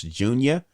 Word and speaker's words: Junya: called i think it's called pronounce junior part two junya j-u-n-y-a um ty dolla sign